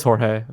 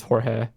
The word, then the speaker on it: Jorge: No, it is Jorge, but Really? people pronounce it. Yeah, people pronounce it George too. So either works. Wow. Like legally speaking, like what's on paper, it's Jorge.